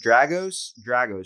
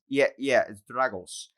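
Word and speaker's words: Dragoș: Like when I walked up to you, I was like, your name is Dragos, right? And you're like, it's Dragos.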